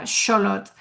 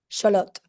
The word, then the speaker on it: Xólotl: is the way that you would pronounce the god's name in nawa uh scholot the tl is like a t soundot.